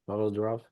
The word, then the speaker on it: Pavel Durov: That's how you say it, Pavel Durov.